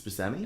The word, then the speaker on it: Buscemi: It's Buscemi. It's Buscemi apparently. Oh. That's the proper pronunciation.